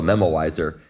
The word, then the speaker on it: memoizer: called a memoizer and a memoizer is is not a mispronunciation of the word memorizer it's actually something called a memoizer and it's a it's